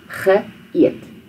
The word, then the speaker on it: geëet: So the G is the past tense part, the past tense prefix, and then eet is where you start the new sound. Ge eet.